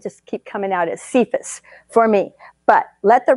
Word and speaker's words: Cephas: would be actually pronounced kephus as if it were spelled k-a-y-f-u-s but I'm old and kind of stuck in my way so it's going to just keep coming out as cephas for me but let